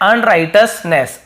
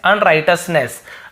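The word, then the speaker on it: unrighteousness: इसका सही उच्चारण है अनराइटस, ठीक है, अनराइटसनेस, अनराइटसनेस।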